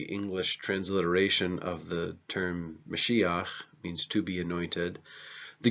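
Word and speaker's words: משיח: is anointed is known as a messiah so mushiya means anointed one and so this is where we get the word Messiah it's the English transliteration of the term mushiya means to be anointed the Greek translation of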